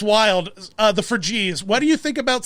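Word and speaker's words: Phryges: Sentient red hats, the Frigies, I guess is what the red hat is called. Sure. Spelled Phygres, or I don't know. Google told me it's pronounced Frigies.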